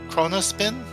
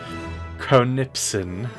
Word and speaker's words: Chronipsin: There's also this entity that was mentioned in our letter, Chronospin? Chronipsin. Chronipsin, yes. I'm mispronouncing everything today.